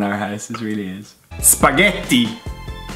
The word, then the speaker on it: spaghetti: Spaghetti. T. It's quite easy. I don't understand where the T spaghetti. Where does the D come from?